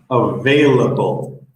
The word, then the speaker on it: available: So the V is just like that, your bottom lip and your top teeth, and it's tricky. I know Spanish speakers have trouble with the VB together. Available, and the B is just your lips. It does not involve your teeth at all. Okay, let me try this one.